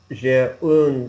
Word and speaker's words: un: Oui, j'ai un stylo. Excellent. Don't pronounce the N, though. It's a nasal N.